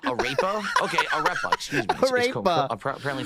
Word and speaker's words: arepa: Arepa. Apparently it's pronounced arepa.